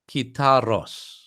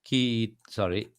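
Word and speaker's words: kitharos: And that's how it's written. Kitaros. So this is how it's pronounced. Kitaros.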